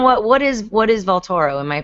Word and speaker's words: Vaultoro: me in on what what is what is valtoro am I pronouncing it correctly you are yeah well it's